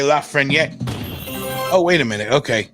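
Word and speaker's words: Lafrenière: looks like alexei lafreyer la frenia i learned sil it's just not saying the last syllable it's alexei la freniere oh wait a minute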